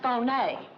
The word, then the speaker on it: Fier: who's he tomorrow a genuine Pearl Alexis Fier pronounced Fon yeah very when did she meet this guy